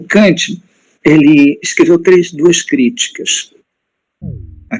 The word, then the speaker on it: Kant: de filosofia alemã, né, eu não consigo essa pronúncia de o Kant sem o N nasalizar o A, como nós cariocas fazemos. Então, falar Kant com A de batata, né?